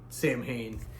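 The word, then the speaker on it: Samhain: another band I guess technically it's called se but we all know it as you know us Americans taking on the how it's spelled we go with Sam Hayne and this is initium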